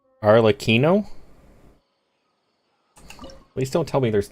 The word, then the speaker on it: Arlecchino: Well, I said that after Mose told me to say it like cappuccino, but Unicorn still told me it was wrong.